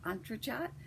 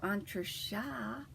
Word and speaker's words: entrechat: It is the step in ballet where they cross their legs and jump up and down, Entrechat. So Entrechat, and the more I'm doing, the better at them I'm getting.